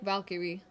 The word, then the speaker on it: Valkyrie: I pronounce Valkyrie's name as Valkyrie. Like Valkyrie. Or I suppose if you're a little bit lazier with the pronunciation, Valkyrie.